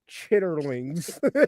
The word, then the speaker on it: chitterlings: and the fact that you pronounced like every syllable chitterlings I couldn't I couldn't